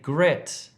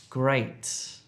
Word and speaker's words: great: Don't say gret if you're trying to say great. Gret, great.